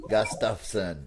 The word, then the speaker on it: Gustafson: But you say my last name is 3 syllables. Gus, tough, like leather, tough, son. Gus, tough, son. Gustafson.